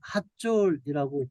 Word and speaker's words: 하솔: 요거는 하솔이에요. 텔 하솔. 텔 핫졸이라고 발음하는 게 더 맞죠.